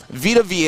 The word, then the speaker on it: Vita Vea: These are for all second-year players, and if we go through this top 10 list, starting at number 10, Vita Vea.